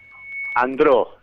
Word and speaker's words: Andreu: Andró. Se Andró. pronuncia Andró, sí, como es francés, digamos.